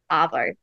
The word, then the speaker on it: arvo: long R sound that you'll hear in car. So not to be confused with avo, which is avocado. So that vowel sound at the beginning is different. So a is avo, R, arvo.